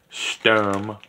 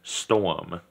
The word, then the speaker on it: Sturm: one we have is the Russian Sturm or what I like to pronounce as storm um this one I